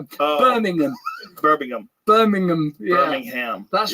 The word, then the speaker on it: Birmingham: say snooker we say snucker we can't even pronounce a sport that we don't even yeah I mean it's a we burnam catastro catastrophe the way you how we burnam burning oh no burningham Birmingham Birmingham Birmingham Birmingham that's right listen this guy